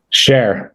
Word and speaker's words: Scher: Cher. Beautiful. Cher. That's easy. Like the singer? Is that it? Sonny and Cher?